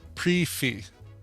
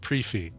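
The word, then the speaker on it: prix fixe: okay yeah all right and the and the pronunciation is uh pre fee oh brief the prixy fix is pronounced pre-fee pre-fee okay i will buy that i'd buy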